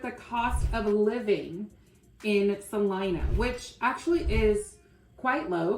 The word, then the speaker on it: Celina: cons of some line in Texas which is pronounced Salina Selena or Selena no oh no that's what I just said okay we're going to start with the cost of living in Salina which actually is quite low compared to some